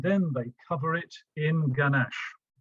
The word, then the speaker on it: ganache: g isn't it um people pronounce it gamash sometimes with the schwa ganesh but that's going to